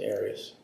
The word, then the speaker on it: Arias: Have you always pronounced it Arias?